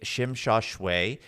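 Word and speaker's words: Tsim Sha Tsui: And that, when I say that, that's how you pronounce it in English based off of how they spell it, right? That's really how the white English person is going to say it.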